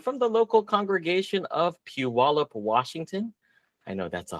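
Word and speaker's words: Puyallup: So if you see that uh that name come up on the map, it's pronounced Puallup.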